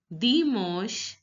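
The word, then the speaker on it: dimanche: become sure sure and generally I told you that the last letter of the word is not pronounced in French so the E is not pronounced so it becomes demons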